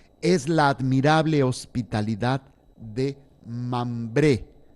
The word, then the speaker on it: Mambré: la admirable hospitalidad de mambré con m mayúscula y acento en la e mambré coma preludio a la